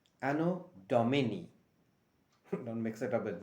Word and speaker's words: anno domini: friend is a latin word which stands for anno domini ano domini don't mix it up with dominic's pizzazz anodomony